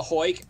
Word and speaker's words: Heuck: twitter uh at at the hoik th e underscore h o y k the phonetic pronunciation of my last name i i've written a